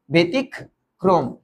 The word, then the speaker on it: ব্যতিক্রম: এটার উচ্চারণটা কি হবে এটার উচ্চারণটা হবে বেতবে ক্রম বেতিক ক্রম কেন দুইটা ক হল কারণ এই রফলা এই যে রফলা রফলা মাঝে বাসে বসলে কি হয় শব্দকে দীপ্ত করে শব্দকে দীপ্ত করে বুঝছো